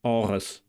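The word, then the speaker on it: ארץ: In the final word, aretz, aretz, we encounter the voiced uvular trill again in biblical Hebrew, and the fricative in modern Hebrew. And the final consonant, tzadi, is pronounced in biblical Hebrew like an emphatic S, meaning that it's pharyngealized. So, in modern Hebrew, it's pronounced ts.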